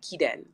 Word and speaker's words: Kiden: so the emphasis is actually on the E, Kiden.